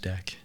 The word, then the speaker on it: Deck: It's pronounced deck. Yeah. Whenever somebody calls me a dick, I'm like, it's pronounced deck. Yeah. That's my last name is Deck.